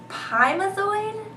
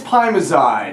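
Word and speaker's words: pimozide: avoid um nsaids warfarin pimazoid is that how you say it i think it's primozide oh okay and abuse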